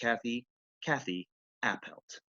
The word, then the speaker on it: Kathi Appelt: It's not Catherine or Katerina or Kate, it's just Kathi Appelt.